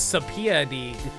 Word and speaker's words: subpoena: Oh, I know how to pronounce it. It's subpoena.